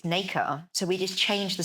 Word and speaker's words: Naker: uh, r e, or in French, it's pronounced la nac. Um, and in English, it's Naica.